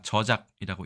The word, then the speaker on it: 저작: 뜻부터 알아보도록 하겠습니다이 글자는 우리가 저작이라고 읽습니다 조금은 어려운 말이죠 하지만